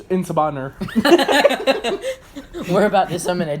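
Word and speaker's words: En Sabah Nur: Inshabaner. Whoa, is that how you pronounce it? No, it's Insabaner.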